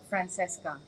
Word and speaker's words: Francissca: Dekat negara Itali, memang kalau ejaan itu, jika anda berada di Itali, memang disebut Francesca. Tetapi friend bukanlah orang Itali. Right. Jadi kita sebut Francissca.